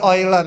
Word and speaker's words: Euler: Namanya bilangan simbolnya E, namanya bilangan E ular. E ular. Bacanya Euler ya.